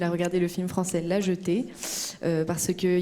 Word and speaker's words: La Jetée: I don't know how to pronounce the title. La Jetée. La Jetée.